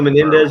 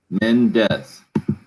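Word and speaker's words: Mendes: that he said eva menendez is married to ryan gosling just two syllables men death i think menendez is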